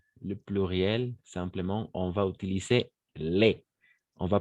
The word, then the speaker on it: les: Et pour le pluriel, simplement, on va utiliser les. On va prononcer simplement les. On ne va pas prononcer le S à la fin.